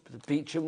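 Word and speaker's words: Beauchamp: address it be like oh beachum Road and I spell it so I spell it out oh bamp it's like no beum it's that beachum road beachum it's that but you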